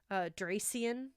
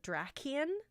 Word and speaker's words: Drakian: Might would spell it with a K instead, so you get that hard K sound instead of the Dracian or whatever that some people may try to say, but Drakian might work.